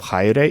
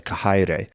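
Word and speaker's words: χαῖρε: Instead of chaire, it's hierete. And one of the voice actors also says kahaire. Kaire. And that's one of the features sometimes taught for the ancient pronunciation, is that the ch was a kh.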